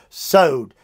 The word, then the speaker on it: sod: what is god's secret the word is sowed it's spelled sod sowed and it means his